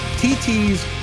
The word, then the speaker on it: TT: Now, it looks like Thithi. And the only reason I'm telling you this is because when you go to the website later, you have to spell it THI. But seeing as how TT's brings you everything from Thai food to Vietnamese food to French food. And because I've met TT, I know that that's how she pronounces her name.